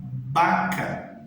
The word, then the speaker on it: vaca: Então a palavra vaca, a mesma escrita no espanhol, o som é que vai estar diferente. Eu não falo vaca, eu vou falar baca, ok?